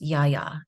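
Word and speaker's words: Γαία: a mother frequency mamaya it's actually pronounced Yaya in Greek yeah so we're literally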